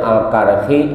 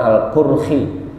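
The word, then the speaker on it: al-Karkhi: ya Syekh Mar'ruf Alkarhi ada dua versi ya ada yang bacanya Alkarhi Ada yang bacanya Alqurhi gitu. Terserah aja itu mah.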